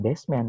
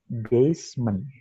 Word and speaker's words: basement: Tapi secara pelafalan, secara pronunciation, bukan basement, tapi basement.